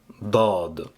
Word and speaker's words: ض: cette vidéo la lettre D d donc la prononciation elle est importante de cette lettre là donc écoutez après moi c'est d dad après au niveau de sa forme donc elle